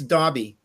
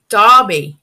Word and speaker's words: Daube: Actually, it's Daube. Daube.